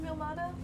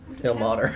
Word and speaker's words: Ilmater: of Are they just called the followers of Ilmata? Ilmater. Ilmater. I spelled it wrong. Hey, How do you spell it?